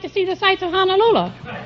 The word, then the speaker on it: Honolulu: Well, he said, "How would you like to see the sights of Honolulu?" They pronounce it honolulu over there when I was there.